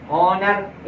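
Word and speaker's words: honour: ई house किंतु कुछ शब्दों में एच साइलेंट भी रहता है जैसे यहां पर एच तो नहीं पढ़ रहे ओनर एच तो नहीं पढ़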